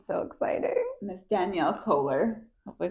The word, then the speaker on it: Koehler: This is Danielle Kohler.